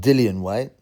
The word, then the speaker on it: Dillian: always I've always wondered some people call him Dylan white but but it's spelled dillian white but his original nickname was the villain so you think Dylan the villain villain white that rhymes dillian the villain white doesn't rhyme but now he calls